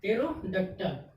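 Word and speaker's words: pterodactyl: यानी PTRERODACTYL, क्या हो गया, टेरोडक्टल। यानी T से पहले क्या आ गया, P आ गया। T से पहले जब P आ गया तो P क्या हो गया, साइलेंट।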